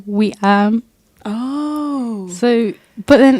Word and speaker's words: Weam: at the point where I've told you guys to call me but that's not how you say my name oh wait so how do you say it there surprise twist it's we um oh so but then